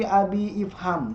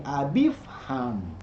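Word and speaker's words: أبي افهم: Nah, abi ketemu dengan ifham tidak dibaca abi ifham. Jadi tidak dibaca qala li abi ifham, tidak, tapi qala li abifham. Gitu, itu cara baca saja.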